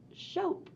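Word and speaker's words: scop: the bwolf Sheep sh Shope is pronounced Shope with a long o a Shope is a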